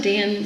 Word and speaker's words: Dan: Literally in the notes it says Dan like Ann. I'm sorry, what else would Dan rhyme with? Okay. Oh, and Lau slant rhymes with owl.